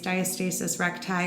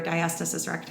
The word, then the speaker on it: Diastasis Recti: prenatal Pilates, postnatal Pilates, Diastasis Recti or Diastasis Recti, however you'd like to pronounce it. There's two different pronunciations depending on where you live, apparently, which region you live in.